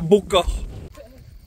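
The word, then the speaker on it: Baume-Cornillane: youtubeuse nous quittons la Baume cornillane et comme ici peu de lettres se prononce nous quittons à beau corps pourquoi vous aviez une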